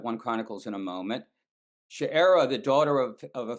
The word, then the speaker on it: Sheerah: The English translation chir is pronounced sherra in Hebrew and I'm going to try to do that.